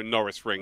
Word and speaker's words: Norisring: chat many a time it's like Lando Norris so we actually called it the Lando Norris ring of the year uh so that's how I would pronounce it Norris ring it is